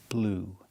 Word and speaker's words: blew: Or the verb blow in the past blue. That's right. Just like the color blue, the pronunciation is the same in the present blow in the past blue.